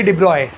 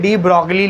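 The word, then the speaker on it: de Broglie: लो read करेंगे डिब्रॉय spelling में डी ब्रॉकली लिखा हुआ है बहुत से लोग भी उसको डी ब्रॉकली ही पढ़ लेते हैं डी ब्रॉय है वो जी साइलेंट है उसमें ठीक है ना देखें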